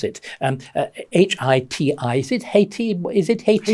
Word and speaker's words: Haiti: Let me tell you the story of I never know how you pronounce it, H-I-T-I, is it Haiti? Is it Haiti? Haiti.